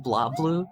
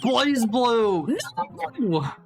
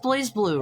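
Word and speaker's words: BlazBlue: It's pronounced blah blue. It's pronounced blaze blue. It's pronounced blaze blue.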